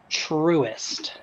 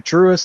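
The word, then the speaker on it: Truist: for you it's t-r-u-i-s-i-s-t truest trust with an eye in the middle of it yes that helps you're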